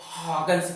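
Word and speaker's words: Huygens: इसको पढ़ा जाता है ओ और इसको पढ़ा जाता है, तो इसको हाइगेंस प्रिंसिपल बोलते हैं।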